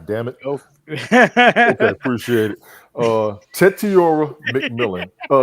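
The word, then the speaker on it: Tetairoa: Tetiora McMillan. Pronounce his name properly for me, Brian, please. Tetiroa. Tetiroa McMillan.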